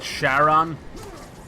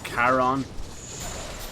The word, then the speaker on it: Charon: no i okay oh charon all right the gods will release neither of us but is it like sharon or is it caron the h is silent in it bro you're getting slapped